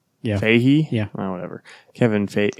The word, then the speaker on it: Feige: Feige. Yeah. Feige? Yeah. Oh, whatever. Kevin Feige. He's got a G in there. I know, but I think it's silent.